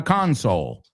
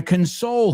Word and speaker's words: console: So careful with that word. Depending on uh where you see it, it's going to have a different pronunciation whether we're talking about the noun a console like the PlayStation or to console somebody who's going through a difficult time.